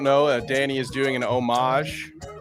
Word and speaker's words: homage: I mean, obviously, for those of you who don't know, Danny is doing an homage, which is the proper way to pronounce that very French word, to my heritage right here.